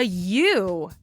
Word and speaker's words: ewe: And the mommy sheep is called a ewe, but it's spelled E-W-E.